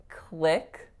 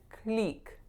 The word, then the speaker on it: click: this one not so instead of saying click click with a l a i vowel I said click click with a pure e vowel so clickbait that stress is on click but you need to have a LAX I vowel there next one I